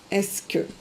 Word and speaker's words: est-ce que: And you pronounce it est-ce que.